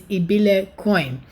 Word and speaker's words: ibilecoin: a little bit easier but the proper pronunciation i've watched videos is ebile coin now they are built